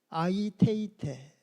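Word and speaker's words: αἰτεῖτε: 구하라는 헬라어 원어가 아이테이테. 우리 다 같이 아이테이테. 한 번씩 발음해 주셔야 됩니다.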